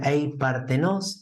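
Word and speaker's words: ἀειπάρθενος: Hay una palabra en griego que se pronuncia eipartenos, se escribe eipartenos o partenos, con el acento en la primera A, que significa la siempre virgen.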